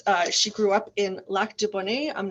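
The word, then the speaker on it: Lac du Bonnet: she grew up in la de bunny I'm not sure if I'm saying that correctly you don't need to pronounce it the French way nobody does back to Bonnie back to Bonnie in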